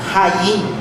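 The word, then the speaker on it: חיים: Lá no hebraico, a palavra deve ser pronunciada Hayim, né?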